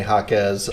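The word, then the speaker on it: Jaquez: for them uh it officially the pronunciation is Jaime Hawkins and officially we can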